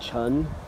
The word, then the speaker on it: Chen: something to do with the Chen family. Or Chen, it's sometimes pronounced in English. But it sounds more like Chun in Mandarin.